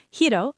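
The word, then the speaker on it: はい: I'll ask Hiro some yes-no questions.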